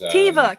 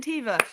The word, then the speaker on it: Teva: think the big bad for this show is Teva Captain tiva okay thank you yes um not John I